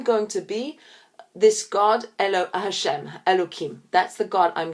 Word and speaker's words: Hashem: but with my name Hashem, which is spelt with a yud and a hey and a vav and a hey. That we say is Hashem, so I'm going to use the word Hashem.